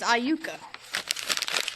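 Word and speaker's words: Iuka: It is Aayuka. Okay. Tell us tell us some fun facts about Aayuka.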